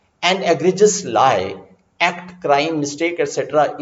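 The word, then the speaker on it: egregious: अब यहां से एक वर्ड निकाल के लाते हैं, एग्रीजियस। Remember the pronunciation, एग्रीजियस। तो एग्रीजियस इज the pronunciation, is from Latin word, अब ये ध्यान रखिए, ग्रेक्स, ग्रेजिस, हर्ड और फ्लॉक।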